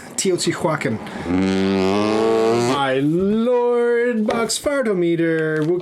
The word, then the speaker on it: Teotihuacan: Along with Tzolk'in, Teotihuacan. I just pronounced that wrong. It's Teotihuacan. Teotihuacan.